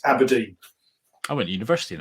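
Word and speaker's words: abrdn: And it's so partly that's the reason, but it is pronounced Aberdeen.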